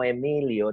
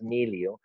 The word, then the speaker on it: Miliau: It took me an entire course to just to learn to say that was no Emilio, that was Milio.